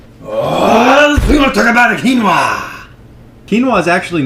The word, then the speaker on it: quinoa: two about this scene pronounced quinoa not kooa you ignorant American quinoa is actually a